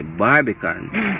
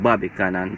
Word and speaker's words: Barbican: and then like and i got to understand that it's actually barbican but he was constantly saying bobby cannon some other person so